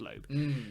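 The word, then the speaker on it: Loab: in a video so I think it's pronounced low so either way you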